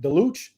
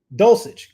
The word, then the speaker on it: Dulcich: backup for you, and you can help me pronounce this, Anthony, if I'm wrong. My man Greg, is it Deluch? From Dulcich, Greg Dulcich.